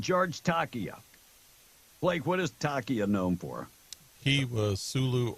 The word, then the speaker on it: Takei: Blake, what is Takei known for? He was Sulu on Star Trek. And it's pronounced Takai. Oh, Takai.